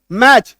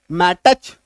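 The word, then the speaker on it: match: अब पढ़िए एम एसी एच मैच नहीं तो क्या पढ़ लेते? मैटच अगर मान लीजिए आप टी को इसके साथ लेके चलेंगे तो इसका क्या सही उच्चारण निकल के आ जाएगा?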